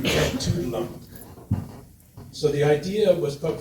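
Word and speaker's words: Etuaptmumk: So I put up my Anglophone-ized attempt at pronouncing that Mi'kmaq name, tugdalump.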